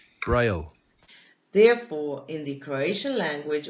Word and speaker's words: Braille: Louis Braille was a Frenchman, so in the French language, his second name is pronounced Braille. And in the English language, his second name is pronounced Braille.